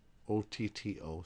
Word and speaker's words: otto: Once again, when you see double consonants, two of the same type, you pronounce them both coming into the end of the first syllable and going out of the next syllable. So otto, O-T-T-O, sounds like otto, otto, otto.